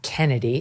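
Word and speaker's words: Chennedy: You pronounce the name, even though it's spelled C-H. You just pronounced it Kennedy, so my apologies to her.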